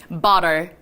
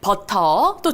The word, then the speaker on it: butter: 근데 이걸 미국 사람이 좀 부드럽게 연음 처리를 하면서 읽는다 그러면 미국 사람은 이렇게 발음하겠네요. butter. 한번 여러분들도 꼬아보시도록 할까요? butter. 이렇게 발음을 하는 겁니다. 하지만 이건 뭐 미국이냐 영국이냐의 발음 차이기 때문에 여러분들이 발음하기 편안하신 걸로 골라서 발음하시면 됩니다. 버터도 좋고요. butter도 좋아요. 아주 좋습니다.